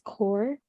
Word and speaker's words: Kaur: Yeah, it's spelled. And then my last name is Kaur, KAUR.